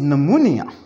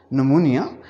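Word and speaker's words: pneumonia: We start with, अगर कोई biology में वर्ड स्टार्ट हो P से और साथ उसके N हो तो हम P पर ख़ामोश रहते हैं और N से उस वर्ड को प्रोनाउंस करना शुरू करते हैं। फॉर एग्ज़ाम्पल, आपके सामने दो अल्फाज मैंने तहरीर किए। वन इज़ नमूनिया, so here is ए P जो खामोश रहेगा।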